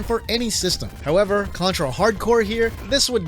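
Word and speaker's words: Hard Corps: A lot of people really love Contra Hardcore. And yes, that's how you pronounce this. It's not corpse people.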